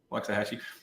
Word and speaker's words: Waxahachie: how to say Waxahachie it's a short a Waxahachie but who knows and we've